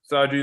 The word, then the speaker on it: Saji: is the sagi r2 damascus 270 millimeter sujihiki saji is spelled s-a-j-i yeah brian just wait next week